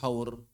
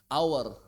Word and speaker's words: hour: Misalnya seperti haur, bacanya apa? Hah? Hour. H-nya enggak ada istilahnya silent age, hour.